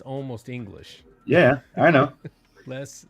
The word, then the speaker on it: le: Les 6 Voyages. Le, not less. You don't pronounce it. It's le.